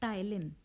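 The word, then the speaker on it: ptyalin: टाइलिन। ठीक है। P silent hair, या फिर इसका दूसरा नाम क्या होता है?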